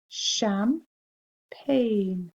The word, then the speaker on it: champagne: before it was poured here we've got the sh at the beginning of the word so it looks like champagne but it's sham pain and that g is